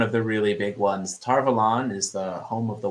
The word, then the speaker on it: Tar Valon: this is one of the really big ones tarvalan is the home of the white tower which